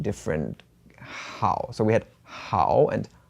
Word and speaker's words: 好: In today's character mind map, we talked about the character hǎo, which means good or very, and can sometimes with another pronunciation in the 4th tone, hǎo, mean to enjoy something.